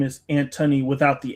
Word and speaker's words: Antony: to say my name, they always say anony, you know, I am always having to say, "No, it's Antony." A N T O N Y.